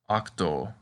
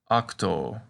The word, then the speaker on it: octo: like the letter o the short version is pronounced like off a good word to practice with is octo which means ate say octo as you can see